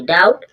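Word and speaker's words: doubt: डाउट डाउट means सब यहां पर बी के बाद जब टी है तो भी साइलेंट है और एम के बाद बी है तो भी साइलेंट है।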